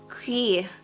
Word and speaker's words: cuir: I think that's how you pronounce it. Let me just double check, make sure I'm saying it right. Cuir.